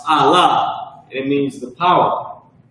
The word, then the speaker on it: Allah: That's pronounced Allah.